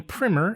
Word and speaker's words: primer: So, Carmela, it's been about 5 months since we did our last Portuguese wine primmer. And it's primmer, not primer.